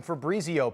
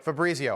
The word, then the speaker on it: Fabrizio: Fabrizio. All right. Every time I hear that, I think Fabriz. And I think I'm saying it wrong.